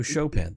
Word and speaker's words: Chopin: Oh, Chopin, thank you. Jay corrected my pronunciation. Thank you. Chopping broccoli. That's what I always think of when I see Chopin spelled out.